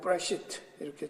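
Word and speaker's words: בְּרֵאשִׁית: 여기에 써놓는 태초에라는 브레시트라는 저 앞에 점이 있기 때문에 조금 방점이 있어 세게 발음하는 거요. 브레가 아니고 브레시트 이렇게 좀 강하게 발음해서 브레시트.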